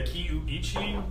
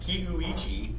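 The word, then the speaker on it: Kiuchi: So technically speaking, it's the Kiuichi. Kiuichi.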